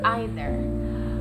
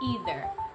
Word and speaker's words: either: learned especially from euglesia most americans they pronounce them in neither and either with the double e sound although i found also